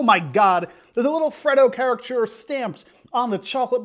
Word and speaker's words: Freddo: Freddo Bar, or the Frito Bar. I pronounce it Freddo because it's Fred D-O, Freddo Bar.